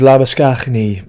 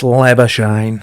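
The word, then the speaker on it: Labuschagne: it's like the cricketer, his name is Labisknney, but they call him Lebashine. Man, it's Lebashine.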